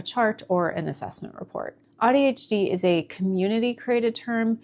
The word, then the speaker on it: AuDHD: I was pronouncing it as "odd," ODD, DHD. Once someone explained to me that it's pronounced as "awe" as in awesome, AuDHD, I began to feel